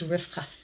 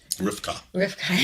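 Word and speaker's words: רבקה: In Hebrew, they actually pronounce Rebekah, what we say Rebekah, it's Rivka. Rivka.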